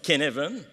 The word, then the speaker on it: Cynefin: Puis là, ceux qui sont très familiers avec le modèle de Cynefin, parce qu'en passant, ça s'écrit Cynefin, mais ça se prononce Cynefin, OK?